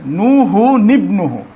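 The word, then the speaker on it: نُوحٌ ابْنَهُ: তানবিনের যে নুনটি ছিল, এই নুনটির নিচে জের দেওয়া হয়, ঠিক আছে। তাহলে নুহু নিবনুহু, নুহু নিবনুহু, এই যে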